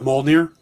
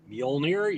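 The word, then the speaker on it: Mjölnir: is carrying a version of moldner mjolnir you're absolutely correct um now that i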